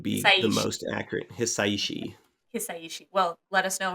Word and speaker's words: Hisaishi: Hisaishi.